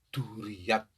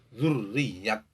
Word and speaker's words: Duriyat: adalah Muhammad angsor binduriang ucapan dan dialek masyarakat kami Duriat kalau menurut bahasa madrasah yang tentunya sebenarnya adalah dzurriyat tetapi Shakira tidak mengapa